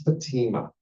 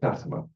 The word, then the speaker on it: Fatima: They were called America Needs Fatima, or Fatima, depending on how you pronounce it.